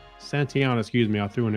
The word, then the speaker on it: Santayana: 216 years ago today and george and george satyanya santayana santiana excuse me i threw an extra syllable in there spanish philosopher novelist and poet